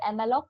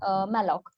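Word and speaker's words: malloc: be so it's okay whether you pronounce this as the Moc or the Malo it is same and it it stands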